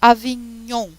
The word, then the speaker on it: Avignon: Mas se pronuncia Avignon.